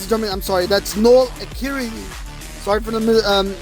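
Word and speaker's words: Noel Acciari: Here he was about 96 hours after he and center Noel Akiri, ladies and gentlemen, I'm sorry, that's Noel Akiri, sorry for the mispronunciation there, had been traded to the Toronto Maple Leafs by the St.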